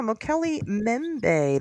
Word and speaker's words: Mokele-Mbembe: Yeah, Mokele-Mbembe. The first B in Mbembe is silence.